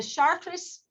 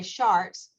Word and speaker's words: Chartres: to the first one the chartres or some people will say sharks but i've heard it pronounced both ways this is probably the